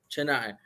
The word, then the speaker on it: Chennai: a place called how do you say it's Chennai Chennai Chennai Chennai yeah Chennai how is life back home in India and